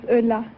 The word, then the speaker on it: Ulla: Ulla, is that right? Is that how you pronounce it? No, my name is Ulla.